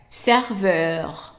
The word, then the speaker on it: serveur: So the next word, we already know that E followed by two consonants is a short A. And now we add in EU, is pronounced as a long E.